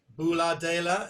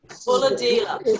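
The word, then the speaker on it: Bulahdelah: Bula, did I say it right? No. Go on, how do you say it? Bulladila. Bulladila. Bulladila.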